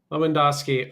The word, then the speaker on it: Lewandowski: How do we say their name? So on top you have Radwaf Mikharski and on B on the bottom you have Martin Leandowski. Okay. Leandowski. I think you should be able to pronounce the famous Polish uh soccer player. Yeah, Robert Leandowski. So he won celebrity and is the same name.